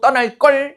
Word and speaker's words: 떠날 걸: 실제 발음을 된소리로 하거든요.